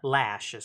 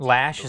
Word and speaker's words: Loesch: uh let's see here shearing off first dana loesch she's actually you know NRA spokesperson blah blah blah blah blah usually left the blaze after four years oh did you yeah lashes how they pronounced lashes that I said if it's spelled Loes but